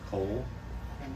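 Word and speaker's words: כל: I know it looks like Uvachol Yom, but trust me, it's coal. Coal. It's a coal. Yep. It's because it's that closed syllable thing.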